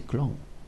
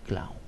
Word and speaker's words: clown: y me dice hermano no se dice Clon se dice Clown sorry si lo que